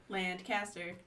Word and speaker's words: Lancaster: surprised by that i i always thought it was lancaster lancaster over there land caster but here here it's definitely lancaster and interestingly enough uh